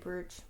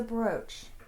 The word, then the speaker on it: brooch: elven cloak right um i think you say approach brooch sorry that's what i said you said bruce that's well you know which rhymes with who if you're cool or you say it that way no that's right huh rhymes with i know but that doesn't sound right it's a broach greg uk will back